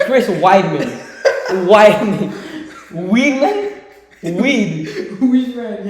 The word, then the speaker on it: Chris Weidman: have to restart and it's staying in never pronounce Chris never said Chris Weedman again it's Chris Weidman Wiman Weedman weed who man yeah that's what